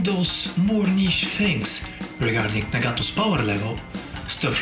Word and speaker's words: Nagato: this dud nagato now I am going to pronounce him as nagato not as Nago or however you pronounce